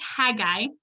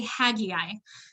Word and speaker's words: Haggai: song for some reason this book right here is pronounced haggai but in the recording of the song they say hagiai so instead of um